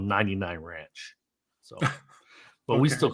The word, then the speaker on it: 99 Ranch: Now, so little did I know this, Lei, but I was told we were saying it wrong the whole time. So, everybody I know in California calls it Ranch 99. It's actually called 99 Ranch.